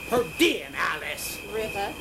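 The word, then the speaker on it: Pedernales River: Pronounced Pertinalis River.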